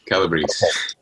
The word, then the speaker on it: Calabrese: nice to see you again and i did pronounce the name right yes you did it perfectly calabrese all right well it's been three years since